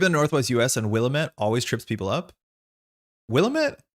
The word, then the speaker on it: Willamette: They say it Willamette in the game.